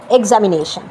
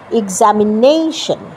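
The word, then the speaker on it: examination: যেমন এক্সামিনেশন কথাটা কিন্তু আমরা বলি এক্সামিনেশন, তা কিন্তু না, প্রোনাউন্সিয়েশনটা হচ্ছে এক্সামিনেশন। এই যে নেইতে আমি স্ট্রেস দিলাম, এটা কিন্তু আমি বা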